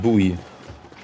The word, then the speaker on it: buoy: It's pronounced buoy.